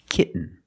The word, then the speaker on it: kitten: When you have T-E-N, T-O-N, or T-A-I-N at the end of the word, and the syllable is not stressed, the T makes a different sound. We have to make a stop T and link it to the N.